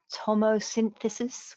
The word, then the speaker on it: tomosynthesis: And can you comment also about tomosynthesis with spectral DR? Sorry, I hope I pronounced that correctly.